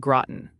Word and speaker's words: Groton: And quick note for the chat, it's pronounced Barnstable and Groton. Okay. Not Barnstable and Groton. That's wrong. Exactly. It's Barnstable, not Barnstable, and Groton, not Groton. You've got it now.